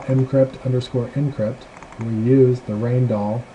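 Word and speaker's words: Rijndael: encrypt we use the rainall that's pronounced rain doll um encryption algorithm this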